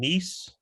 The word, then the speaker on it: Kneese: I'm your host, Kneese. The K is silent.